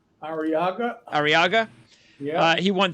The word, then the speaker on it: Arriaga: How do you pronounce his last name? Arriaga.